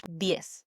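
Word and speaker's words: diez: D. D I E Z. D. It's quick. Almost like you're saying yes, but with a D in front.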